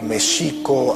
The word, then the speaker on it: Mexico: Tenochtitlan, les comentaba que Mexico, así es como se pronunciaba en el México prehispánico, la X no se pronunciaba ni J ni X, sino Sh. El acento estaba en la segunda sílaba, Mexico Tenochtitlan, no Tenochtitlan.